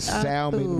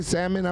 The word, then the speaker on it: salmon: biggest pet peeve Henry when people pronounce the L in the salmon it is silent oh okay my bad